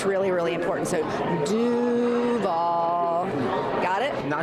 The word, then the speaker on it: Duval: So, dovall and so you got to make sure you have a draw out that do and then nail the v at the end and you'll fit right in.